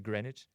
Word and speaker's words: Greenwich: hosted on Greenwich Time gr EE and WI CH I think that's pronounced Greenwich and the headline is thousands